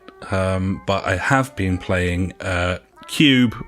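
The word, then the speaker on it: Q.U.B.E.: I have been playing cube or group while depending on how you want to pronounce q.u.b.e I'll go with cube group director's cut buddy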